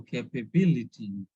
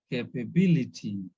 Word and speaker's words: capability: So it is ending with ITY. So capability. We need to stress on BI, ability, capability.